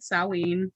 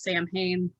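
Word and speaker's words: Samhain: know it as all hollows i call it salween um the word that you're thinking is sam hayne that's not the connect correct pronunciation it's salween um but so a lot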